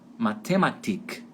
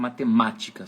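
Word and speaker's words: Mathematik: em alemão na Alemanha em boa parte da Alemanha eles vão colocar sílaba tônica em cima do I lá no final então fica matemática que é diferente do português né que a gente coloca esse batom que é matemática fica em cima do segundo a matemática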